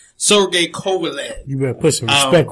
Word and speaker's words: Kovalev: last Saturday between Andre Ward and how you pronounce his name? Kovalev? Sergey Kovalev. Sergey Kovalev.